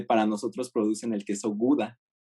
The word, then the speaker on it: Gouda: Pero en Holanda no tienen esta pronunciación de la G. Entonces yo cuando estaba preguntando por Gouda, todos se me quedaban viendo raro. Y le pregunté como a 3 personas y hasta que así estuve insistiendo con varias, ya me dijeron, Hauda, Hauda, porque tienen una pronunciación como si estuvieran raspando su garganta.